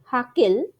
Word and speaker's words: Hückel: সেটাই হচ্ছে ডি বাই হাকেল বা ডি বাই হুকেল, আমাদের যেমন উচ্চারণ, যার যেমন উচ্চারণ, আমরা তো হুকেল উচ্চারণ করি, বাট আমি ওই বাইরে